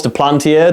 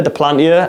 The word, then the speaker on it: Duplantier: I really struggle to pronounce his surname, French name of course, Duplantier, Duplantier.